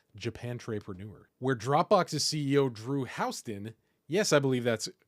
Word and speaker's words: Houston: over there at Japantrepreneur, where Dropbox's CEO Drew Houston, yes, I believe that's pronounced correctly, Houston, not Houston, responds to complaints about Dropbox's ultra-slow response to providing native Apple M1 support.